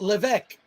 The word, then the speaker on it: Levesque: It's says it's pronounced Levesque, but any pronunciation is fine. Levesque. All right, Levesque. You must be. I don't know. That sounds very French Canadian to me.